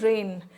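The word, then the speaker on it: rein: रेन इन इसका pronunciation कैसा होता है? रेन। है ना? बारिश वाला जो रेन है वैसा ही इसको हम प्रोनाउंस करते हैं।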